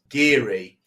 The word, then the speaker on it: guiri: in my head and the only way I could do it was Richard gear Gear because I kept saying it wrong I was giri giry